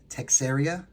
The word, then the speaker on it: Texeira: Texeira?